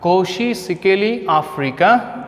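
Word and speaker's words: Nkosi Sikelel' iAfrika: N is silent. Koshi Sikeli, I must be coming here, then Africa. Koshi Sikeli Africa, sung by white people.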